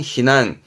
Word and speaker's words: 避難: 대표단으로 일단 피난 갑시다 발음은 히난 히난 피의 음독은 신네요 히난 동사 챙겨 두세요 다음